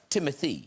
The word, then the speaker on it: Timothée: Timothy. It's pronounced Timothy. It's whatever you'd like. Because I always thought, I don't know if you guys, I thought it was Timothée because of the double E's at the end.